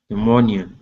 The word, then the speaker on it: pneumonia: beginning is pneumonia okay the p is silent pneumonia okay good uh next